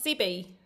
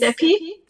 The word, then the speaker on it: Stephy: Um so, now we've got a question from Zippy. And I hope I've pronounced that correctly. Yeah, my name is Stephy.